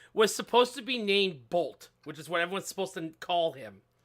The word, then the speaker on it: Boruto: They said the pronunciation of Boruto was supposed to be Bolt.